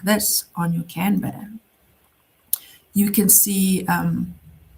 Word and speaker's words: Kanban: And in Bitrix, the term is used for a Kanban or it's actually pronounced Kanban.